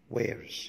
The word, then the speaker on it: wears: He wears glasses، الكلمة دي بنقولها دايما خطأ، نطق الصح wears.